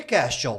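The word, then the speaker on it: quaestio: Por que question? Porque question lembra questionar? Porque em latim se pronuncia questio.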